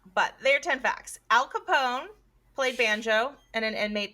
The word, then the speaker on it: Capone: And my mom said, instead of pronouncing it Capone, he changed it to Capone.